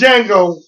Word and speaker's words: Django: The name is Django. The D is silent.